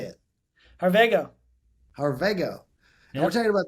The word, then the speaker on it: Harvego: Harvego.